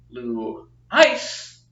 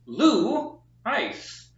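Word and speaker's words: λύεις: time being know that the accent is on the first syllable which is Lou and then we have the second syllable which is ice which means that it is not blue ice it is Lou ice or I'm here to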